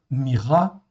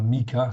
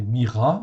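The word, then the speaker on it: Mikha: Myra, donc ici, ça se prononce Myra, ok, même chose, ok, c'est pas Mika, c'est Myra, en fait, ici, donc le KH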